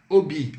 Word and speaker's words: hobby: Hobby. Hobby, vocês lembram? O H é mudo, então, hobby.